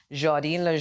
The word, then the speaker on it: Jadel: Now, of course, for those of you who don't know, her real name is, I had to make sure I got a pronunciation for it, Jadel. Yes. It's okay, French.